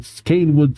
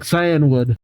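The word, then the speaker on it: Cianwood: One of them has reportedly attacked the gym leaders of Blackthorn and Canewood City. Or Cyanwood? I don't actually remember how to pronounce that. Alright, looked it up real quick. Cyanwood.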